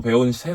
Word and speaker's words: 품새: 하지만 저 는 그것 을 'Pumsae' 라고 발음 하고 'ae' 가 들어간 것 으로 배웠습니다 .